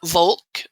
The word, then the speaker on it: Volk: linguistically my friends uh volk in german you now know where we get the word folk in english with an f yeah well i think in german it would be pronounced folk anyway so let's see